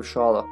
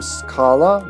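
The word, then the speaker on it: Schala: could help himself save shala also i've heard people pronounce her name scala which just doesn't sound right would you say scholar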